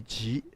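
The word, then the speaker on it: jí: The pronunciation of Tai Chi should be Ji, separate from the word for Qi, which is the breath of life.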